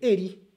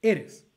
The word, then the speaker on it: eres: Lo que está diciendo básicamente 31B es, no se dice eri, se dice eres.